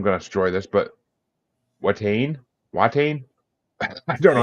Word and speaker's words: Watain: by and I'm going to destroy this but Wain why I don't know how pronounce that yeah it's wat wat okay so to funeral by watain from